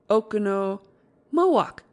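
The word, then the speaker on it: Oconomowoc: it Mo then okono okono moak moak okono moak is enough when you have it Accent on second syllable the only trouble is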